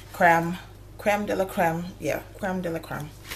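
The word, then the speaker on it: crème de la crème: So you can get these Cream de la Curl, Cream de la Cream, Creme de la Creme. Yeah, Creme de la Creme.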